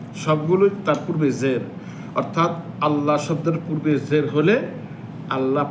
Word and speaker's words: الله: হবে পাতলা হবে আর পূর্বে পেশ অথবা জবর হলে লফজে আল্লাহর লামটা কি হবে মোটা হবে আল্লাহ আর আল্লাহুম্মা একই বিধান।